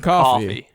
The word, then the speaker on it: Coffey: John Coffey. Like the drink, but not spelled the same.